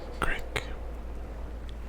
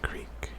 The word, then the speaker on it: creek: I'm Canadian, and I'm not sure if all Americans pronounce it crick, but I say creek. And the gentleman doing the video kept saying crick.